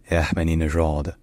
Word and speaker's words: Ahmadinejad: In Persian, his name is pronounced Mahmoud Ahmadinejad.